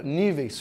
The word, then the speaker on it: níveis: Por exemplo, na palavra níveis, qual é a sílaba tônica? Ni.